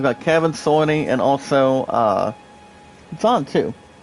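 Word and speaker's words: Jon: I've got Kevin, Sorny, and also, John, too. Instead of J-O-H-N, guys, but it's pronounced as John. J-O-H-N. I mean, J-O-N, excuse me.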